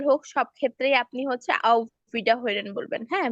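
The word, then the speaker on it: Auf Wiederhören: না, ফোনে আপনি ইনফর্মাল হোক ফর্মাল হোক সব ক্ষেত্রেই আপনি হচ্ছে আউ ভিডা হইরেন বলবেন, হ্যাঁ, বা আউ ভিডা হোগেন বলবেন। হরেন বলেন, হোগেন বলেন, মানে হুম, আটটাকে অনেক সময় গয়ের মতো উচ্চারণ হয়।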